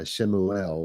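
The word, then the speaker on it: Shmuel: guys know who I'm talking about right uh shimuel was his actual name anyway where are we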